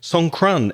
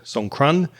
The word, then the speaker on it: Songkran: Songkran, S-O-N-G, like song, and K-R-A-N, one word, Songkran.